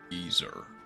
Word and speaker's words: geyser: But they pronounce it geyer instead of geyser.